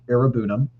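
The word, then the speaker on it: Iroegbunam: his name but it's Tim arunam that g is silent I probably still didn't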